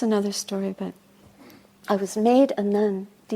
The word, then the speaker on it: Medhanandi: gave me my name made aundi that's another story but I was made a nund it's not spelled like that I was walking down